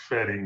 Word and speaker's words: Wedding: But there is a neighborhood in Berlin called Wedding. You're right. I think what Pam was asking about was the pronunciation of the V and the W. The W sounds like fetting instead of wedding.